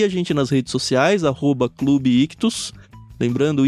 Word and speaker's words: ichthus: a primeira seguir a gente nas redes sociais@Clube ictus lembrando e Ch t h u s que se escreve quilos então arroba Clube ictus a gente